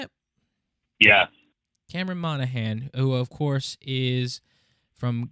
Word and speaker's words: Monaghan: So I think the number one name that I've seen tossed around is Cameron Monaghan. Is that how you say it? Yeah. Cameron Monaghan, who of course is from Gotham.